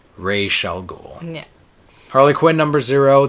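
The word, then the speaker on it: Ra's al Ghul: what are you doing so rall ghoul it should shall forever be pronounced rall ghoul yeah Harley Quinn numbers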